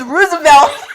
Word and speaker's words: Roosevelt: and he was like, yeah, so our UIL's at Roosevelt. What? He was like, Roosevelt. Roosevelt. He was like, Mom, it's Roosevelt. Oh my God. No, it's Roosevelt. He was like, but there's two O's.